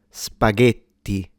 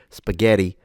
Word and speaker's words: spaghetti: So we have two options really, but the correct diction requires a closed vowel.